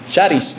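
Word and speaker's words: χάρις: escritura es una palabra que en griego se pronuncia Sharis de hecho de ahí viene la palabra carisma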